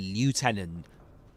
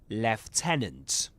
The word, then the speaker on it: lieutenant: Alright, so, in British English, you will say lieutenant.